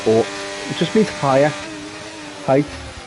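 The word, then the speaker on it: Haute: Mirabal Hot, sorry, because you don't pronounce the H. Or Ort.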